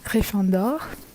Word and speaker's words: Gryffondor: Hey, so the correct French pronunciation of the Hogwarts houses, we have Gryffindor, Gryffondor, Ravenclaw, Sœur d'Aigle, Hufflepuff, Pouf Souffle, and Slytherin, which is Serpentard.